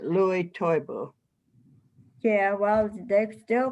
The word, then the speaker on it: Lewis: people how do you pre how do you pronounce it mama always said louis toybo yeah well they still called him louie